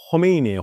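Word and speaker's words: خمینی: 사실 발음은 호메인이에요. 호.이 발음이 이렇게 목이 긁는 발음이에요. 호메인이고요.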